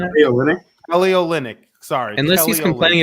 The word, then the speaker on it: Kelly Olynyk: Kelly Olynyk.